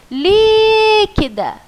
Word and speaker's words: líquida: Qual foi a sílaba que você puxou mais para falar? Não foi o li? Então, o li é a sua sílaba tônica. Então, é a sua sílaba mais forte.